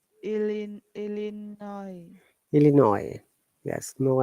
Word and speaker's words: Illinois: Stands Starts with I and finishes with S, but we do not pronounce S.